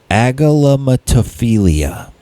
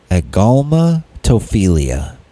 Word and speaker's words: agalmatophilia: Agalamatophilia. Agalmatophilia. That's it. Now I said it right.